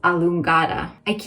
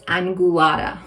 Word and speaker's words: angulata: Another antioxidant in this product that helps reduce inflammation, Physalis allungata. I always say it wrong. It's not allungata, it's angulata. Physalis angulata.